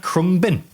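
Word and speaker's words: Khruangbin: And it's a Have you seen that crumb bin?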